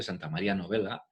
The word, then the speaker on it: Santa Maria Novella: llama santamaría la novela se escribe no bella pero se dice santa maria novella y algunos la consideran